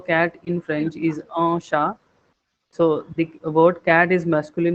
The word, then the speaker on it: chat: Here it is j'ai un chat. Okay, T is silent.